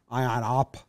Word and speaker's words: Ion: haven't said ion honda ion op h is silent that ain't working it